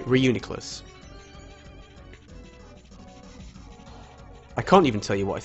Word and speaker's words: Reuniclus: pronounce this it's gone it's like reunion right okay Reuniclus can't even tell you